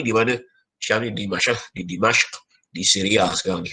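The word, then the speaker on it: دمشق: Syam ni di Dimashq, di Syria sekarang ni, ataupun Damsyik dia sebut bahasa Melayu kita. Tapi sebut Arab dia Dimashq.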